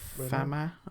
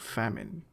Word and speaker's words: Famin: farma the head of fam it's it's spelled famine but probably fam cuz it's a French po I assume but he actually said